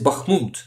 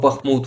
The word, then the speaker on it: Bakhmut: But yes, Bakhmut, actually the right way to say it is Bakhmut, not Bakhmut.